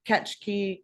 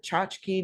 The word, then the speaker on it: tchotchke: have any kind of catch key or tchotchke depending on how you want to pronounce it that they want you